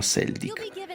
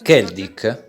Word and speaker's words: Celdic: Elliot che andranno a Seldik. Emma, Machias, Iusis, Fi e Gaius invece andranno a Parma e una volta lì dovranno completare delle missioni. Scusami Duke, ma La pronuncia non è Keldic?